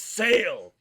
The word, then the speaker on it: Sale: It is pronounced Sale.